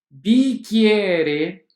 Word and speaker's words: bicchieri: som do português também quando tivermos a falar o ch mais as vogais ii será som de cá inscrevemos ch e pronunciando e av bicchieri de querer que o